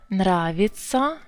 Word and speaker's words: нравятся: Я is unstressed, so it's actually нравится. A little bit E sound there.